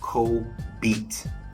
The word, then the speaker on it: Co-BETE: my brand new podcast Co beat pronounced like I Ain beat or pronounced like let me get some beats it's like that same